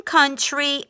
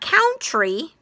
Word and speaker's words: country: say it with me in country oh you so it's not count tree ow we all we